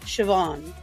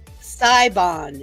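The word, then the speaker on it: Siobhan: it up sioban yeah s i o b h a n shoban yeah sabon is what it looks likeon it means god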